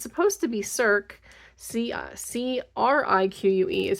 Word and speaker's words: Cirque: C-R-I-Q-U-E is how they have it spelled, so it's pronounced creek if you announce it by the way it's spelled, but I think it's supposed to be C-I-R-Q-U-E, if that's the correct spelling in French.